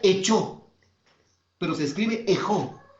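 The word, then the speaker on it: ἔχω: Esa palabra retén en el griego se dice ejo y se pronuncia, se escribe ejo en el griego. Retén se escribe ejo y se pronuncia echo, pero se escribe ejo y se pronuncia echo.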